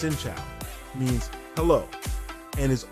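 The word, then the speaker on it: xin chào: start with the basics shincha pronounced shincha means help hello and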